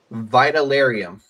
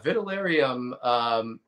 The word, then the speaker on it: Vitalerium: I'm hoping I'm going to pronounce this right. It's Vitalerium. Yeah. I'm stuttering tonight. Vitalerium.